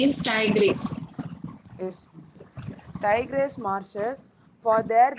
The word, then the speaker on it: Tigris: Pronunciation is Tigris.